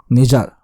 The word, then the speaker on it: Nijjar: Nijar. Let's just call him Nijar because of YouTube. It's pronounced, or is spelled rather, as Nijjar.